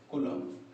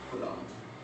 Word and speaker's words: coulomb: Charge is कूलम, CULOMB, कूलम। थोड़ा इसका spelling different type से होता है, कूलम, थोड़ा ध्यान दीजिएगा।